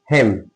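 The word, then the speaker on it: hymn: Just an आ जाए तो आपका क्या रहेगा साइलेंट रहेगा है ना जैसे हिम क्या हिम एच वाई एम एम एन इसको क्या पढ़ेंगे?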